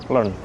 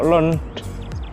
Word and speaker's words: learned: Contoh kata learn jadi learned. I like the language that you learned. Jadi tetap pakai the. Kalau learned adjektif, maka bunyinya learned.